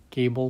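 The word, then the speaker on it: Goebel: um but he's a goble figure gable figure if you pronounce it in german um and it's 1982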